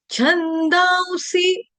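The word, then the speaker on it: छन्दांसि: शुरू हो रहा तो यहां पे आपका जो उच्चारण होगा छंदसी नहीं होगा। छंद सी आधा व छंद सी छंद सी छंद सी जो है आपकी ह्रस्व मात्रा है। इसको दीर्घ नहीं करेंगे।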